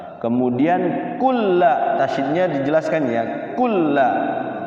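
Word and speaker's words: كُلًّا: Kulla tasyid itu sukunkan dulu cara bacanya. Kulla. Kulla. Jangan kula. Kulla.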